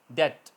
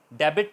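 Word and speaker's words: debt: T इन the word, अगर B T से पहले आ जाए वर्ड के एंड पर तो साइलेंट हो जाता है। For example डाउट, डेट, डाउट शक, DOUBT साउंड है मगर B नहीं बोला जा रहा, DOUT डाउट। इस तरह डेट है, डेबिट नहीं होगा, डेट, DET डेट, B silent रहेगा।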